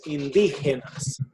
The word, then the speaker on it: indígenas: La arquitectura tiene influencias indígenas, españolas, modernas. Yeah. So that word is pronounced indígenas.